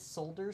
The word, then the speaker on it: solder: to be Isn't it solder? Solder is something different. Um in the US and Canada, we call it solder. We don't pronounce the L, which is another thing.